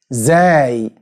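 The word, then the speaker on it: زاي: Zay, which is pronounced Z.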